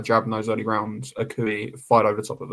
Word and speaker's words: Akui: Akui, that's how you say his name.